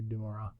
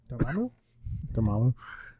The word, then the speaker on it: Dormammu: If it's an origin, I don't think we're gonna see Dumamora. Dormammu.